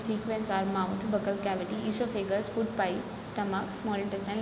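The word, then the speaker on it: oesophagus: Food pipe या फिर ईसोफेगस। ओ silent होता है, ध्यान रखना।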